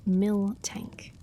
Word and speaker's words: Miltank: Pronounced mil tank.